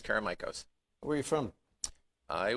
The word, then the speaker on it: Karamichos: show now you said it right it's caramikos where are you from i was born and